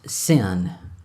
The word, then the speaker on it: Sin: I think is how you spell it it's pronounced sin he goes to Arabia where that God is